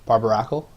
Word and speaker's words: Barbaracle: Ash would be good or on a bar barbaracle is how you pronounce it um and like I said just